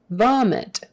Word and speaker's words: vomit: we're almost done okay vomit with a v not a b the vomit the i is short it don't say vomit